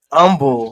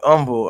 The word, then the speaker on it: Humble: Um umble spelled the same way. Just say umble.